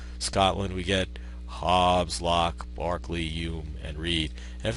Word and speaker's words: Berkeley: of California at Berkeley even though they don't pronounce it the way he did but it is really named the city uh is and ultimately the university named after George Barkley now just a line